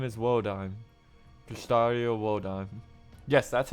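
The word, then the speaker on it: Wodime: will be set aside frozen my name is woodim pistario wod yes that's how you pronounce that by the way found that out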